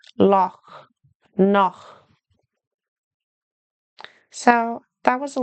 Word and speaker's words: Loch: to the English word Loch. You might be tempted pronounce it like a K, lock. But it's softer like loch.